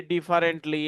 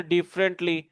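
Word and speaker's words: differently: সেটা হচ্ছে আপনাকে ওয়ার্ডগুলো সঠিকভাবে উচ্চারণ করতে হবে। যেমন এটাকে আমরা বলি ডিফারেন্টলি। এটাকে বলি বেসিক্যালি। এটাকে বলি হিস্টরি। এটাকে বলি ওয়েনেসডে। এরকম ভুলভাল উচ্চারণ করি আমরা। তো এগুলো সঠিক উচ্চারণ হচ্ছে ডিফারেন্টলি, বেসিকলি, অনেস্টলি, ওয়েনসডে।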